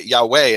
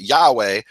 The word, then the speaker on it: Yahweh: way I appreciate that you you say Yahweh and not Yahweh because in Hebrew the one thing that's indisputable in in is that in the name the accent is on the final syllable whatever that final syllable is so when you say